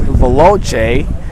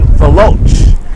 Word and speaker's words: Veloce: A sweet Brazilian design, and this is something that looks very similar, and if you pronounce it in Brazilian, it's Veloce, or Italian Veloce.